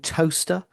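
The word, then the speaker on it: Towcester: Digging up my memory, Southall and Toaster are my two other favourites. I had to actually write the pronunciation down because, of course, they're spelt Southwell and Tocester.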